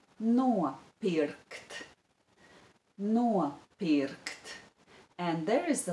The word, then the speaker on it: nopirkt: The stress is on the syllable no and on the syllable bi.